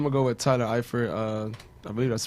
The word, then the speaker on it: Eifert: Okay, so for my starter, I'm going to go with Tyler Eifert. I believe that's how you pronounce his name. Yeah. Yeah. Eifert.